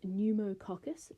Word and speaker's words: pneumococcus: both your examples so the first example is pneumococcus that's spelt with a P caucus caucus means round